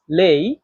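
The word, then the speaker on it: 累: এখানে দেখেন এই লেই শব্দটাতে চাইনিজের চার নাম্বার টন ব্যবহার করা হয়েছে। আর চার নাম্বার টন উচ্চারণ নিয়ম হচ্ছে উপর থেকে নিচে। এটা হচ্ছে জোরে নিচে নামা।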